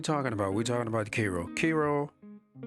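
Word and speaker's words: Kiro: I think it should have should have been pronounced Cairo because it's K I R O. Cairo, but anyway, they call it Kro.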